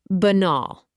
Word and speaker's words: banal: Banal, pronounced ba-nal.